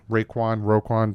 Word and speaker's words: Raekwon: Roquan, depends how you say it. I'm going to say Raekwon Davis.